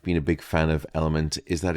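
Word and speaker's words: LMNT: of today's podcast is element uh and that's spelled l m NT element is a sugar-free electrolyte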